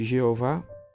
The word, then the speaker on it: Jeová: sem as vogais e sua pronunciação exata é de batida é Jeová e eu vá Javé e a ver o texto hebraico insere as vogais de Adonai e os estudantes e estudiosos judeus leem Adonai sempre que vêem o